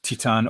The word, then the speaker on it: Titane: film Titan I just looked up the word Titan on Google and that's how I can actually